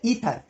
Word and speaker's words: Aether: और उस मीडियम को उस जमाने में नाम दिया गया ईथर, AETHER, इसमें ए साइलेंट है, ये नाम दिया गया इसको, और कहा गया कि इसमें आपकी वेव ट्रैवल करती है।